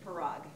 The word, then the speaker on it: Parag: It's Parag, like prerogative.